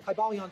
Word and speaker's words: Kybalion: y sounds you know it would have been a long I sound K bang and every